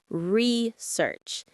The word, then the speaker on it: research: The stress is on the first syllable, research.